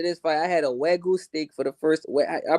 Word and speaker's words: Wagyu: I had a Wagyu steak for the first. I pronounced it right, Wagyu.